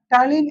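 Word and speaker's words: ptyalin: बोलो टलीन टलीन एंड पी को silent कर देना है ना कैसे तुम्हारा वो था सडोपोडिया में था यहां भी पी साइलेंट रहेगा टिन और लाइसोजाइम एंजाइम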